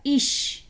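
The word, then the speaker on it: ich: जैसे इधर लिखा हुआ है इश, तो ये सी एच से पहले क्या आ रहा है, जी बताएं।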